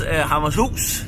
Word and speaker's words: Hammershus: It was Hammershus, as we pronounce it in Danish.